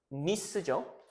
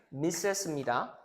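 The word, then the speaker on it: Miss: 이건 이제 여러분들 헷갈릴까 봐 얘기를 해 드리면 저 다다 아시겠지만 이거는 이제 발음이 여러분들 미즈입니다. 오케이? 미즈예요. 얘는 뭐예요? 미스죠. 그렇죠? 얘는 뭐예요? 미스입니다.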